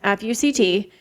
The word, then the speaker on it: FUCT: It was supposed to be apparently pronounced as four letters, FUCT.